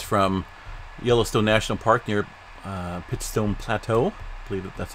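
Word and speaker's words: Pitchstone Plateau: this here is from Yellowstone National Park near pit stone Plateau please that's how you pronounce it and you can see it's just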